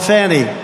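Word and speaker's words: Fani: have to pronounce it fonny it's called Fanny you have to pronounce fny I don't know how she get she should add a little u in there someplace if she wants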